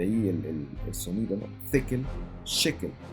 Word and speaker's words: shekel: En hebreo, la palabra se escribe con una shin y se debiera pronunciar con esa sh, shekel. Pero en arameo, usualmente se cambia la shin por la taf, y por eso escuchamos no shekel, sino tekel, tekel o tekel.